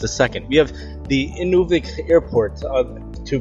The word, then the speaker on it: Inuvik: airports in just a second we have the Inuvik airport to pronounce the name better it's airport Lake inic